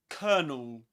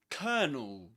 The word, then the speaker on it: colonel: Colonel and it rhymes with a word with this one kernel. You can pretend it's spelled like this kernel. But of course in British English before a consonant sound you don't pronounce the letter R.